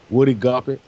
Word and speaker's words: Woody Guthrie: Woody Guthrie.